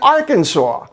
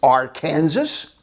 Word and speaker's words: Arkansas: in the united states we have got two states with names that should be pronounced in a similar way but aren't kansas and arkansas why isn't it pronounced are kansas and and that leads